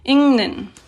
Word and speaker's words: 읽는: And then notice how this, when it's pronounced, this is pronounced 읽는. So this whole thing here just becomes a ning sound when you're pronouncing. 읽는.